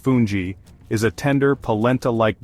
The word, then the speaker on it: fungi: foundation for other dishes fungi pronounced funji is a tender palenta